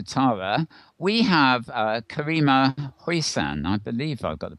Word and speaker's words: Hoisan: we have uh karima huissan i believe i've got the pronunciation right have i karima very close yeah hoisan i put a little of an accent on the last syllable but yes so nice